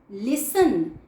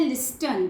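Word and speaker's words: listen: लिसन, इसमें टी जो है वो साइलेंट होता है। कुछ बच्चे बोलते हैं लिस्टन, तो बच्चों में गलत होता है। टी इज साइलेंट हियर, इसलिए हम इसे क्या बोलेंगे? लिसन।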